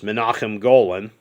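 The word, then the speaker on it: Menahem Golan: And it was directed by one of Canon's founders, Menachem Golan. Sorry, that's how his name's actually pronounced.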